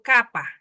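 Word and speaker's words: κάππα: Luego sigue la K o capa. Capa y otra capa landa. Capa que es la K y equivale para nosotros a la C de campo.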